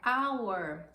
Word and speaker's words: hour: a World uma hora percebam hour eu não pronuncio a letra h por isso and home